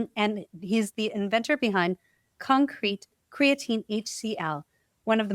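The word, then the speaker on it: Concrēt: For those who are listening, it's spelled c-o-n-c-r-e-t and the e has a macron or a little line over the top, so you know it's CON-CRET and not CON-CRET.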